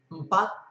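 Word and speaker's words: empat: And an example of that would be mpat. Mpat with a T at the end, and it means four, the number four. It also has a soft E for the first letter, which virtually isn't pronounced.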